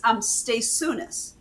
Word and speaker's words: Staisiunas: Okay, so say your name, last name again, because I always pronounce it wrong. Oh, yes, very few people get it off the first time. It's Staisunas. Staisiunas.